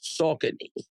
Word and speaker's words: Saucony: Mike Packer told me the the proper pronunciation was Saucony.